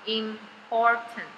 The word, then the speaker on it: important: t，所以最后一个第三个音节发 ten，所以整个音拼起来重要的叫 important，重要的 important。那你有没有看到重音在这里？所以这里要怎么读音？ I am 发 im，有没有看到重音在 P 的这个地方？所以这个 P 要发中文的像一声一样 po po po po，所以 po，所以 important。有没有看到重音 important？